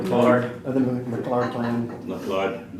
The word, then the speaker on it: McLeod: McLeod, it's McLeod.